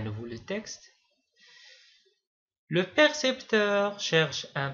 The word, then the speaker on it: percepteur: Quand vous remarquez, ces deux mots sont très proches au niveau de la prononciation mais il ne se prononce pas de la même manière. percepteur précepteur.